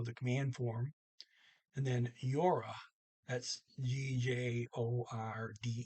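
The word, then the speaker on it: gjorde: command form and then yora that's g-j-o-r-d-e but the d is silent i pronounced it last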